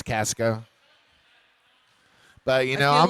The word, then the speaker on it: Casco: Casco Bay? Casco Bay. Not Costco, which would be different. No, we don't do Costco. It's Casco.